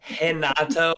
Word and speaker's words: Renato: dank gang stream i'm gonna need you to pronounce my boy's name right my best friend henato moycano call him renato again in brazil what does usd stand for